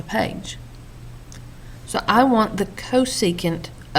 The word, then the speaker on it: cosecant: new trig identities now this CSC that is pronounced as cosecant okay it's just an abbreviation CSC is for cosecant well cosecant is equal